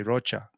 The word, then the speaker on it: Rocha: introduce me they say Rocha Rocha the kiss that's how you say it but I say Roca because it kind of that's pretty much it rhymes with mocha and also I was